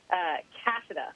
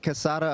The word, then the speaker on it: Cassada: Cassada, right? I'm worried. That's right. That's the right pronunciation. And no, you've got it. I get Cassada a lot, which actually sounds cooler, and there's no paperwork involved.